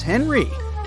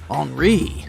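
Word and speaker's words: Henri: And this is Henry, but it's more correct to pronounce his name as Enri since he's French.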